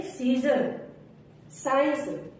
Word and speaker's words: scissors: जैसे साइंस, जैसे सीजर, science. SCIENCE, science. सीजर, SCISSORS, सीजर्स। अब डी कब साइलेंट होगा?